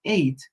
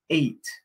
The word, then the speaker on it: ate: si escuchamos la pronunciación eight suena como el número 8 en inglés se pronuncia igual eight One Two for 56